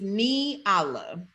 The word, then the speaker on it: Nyala: And then I'm going to tell It's you how to pronounce my name. So it's right. It's Nyala.